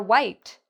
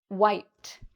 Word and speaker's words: wiped: The way we pronounce this ED ending is actually like a T sound.